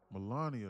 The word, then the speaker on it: Melania: How do you say her name? Is that Melania or or Melania? First lady you're trying to do. Melania. Melania. That's how you say it.